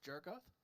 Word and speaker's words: Jargoth: Is your character pronounced Jargoth? Yep.